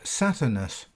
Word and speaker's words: Saturnus: Note that in Latin the V was pronounced as a U. Hence the name, which is written Satvernus, is actually pronounced Saturnus.